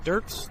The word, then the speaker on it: Dirks: Mr. Durk, is that how you pronounce the last name? I'm sorry. Dirks. Dirks. Yeah.